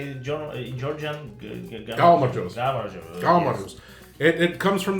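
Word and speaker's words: გაუმარჯოს: Galmajos.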